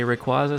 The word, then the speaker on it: Rayquaza: Sometimes I say Rayquaza, sometimes I say Rayquaza. Rayquaza. It's like a tomato, tomato kind of situation.